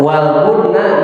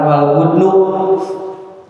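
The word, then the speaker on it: وَالْبُدْنَ: Tah waludna di sini coba lihat itu dibacanya kan waludna bukan waludnu karena jadi maf'ul jadi objek.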